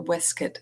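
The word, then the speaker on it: waistcoat: and expanded his straining waist coat or wuit as they pronounced it a lot in a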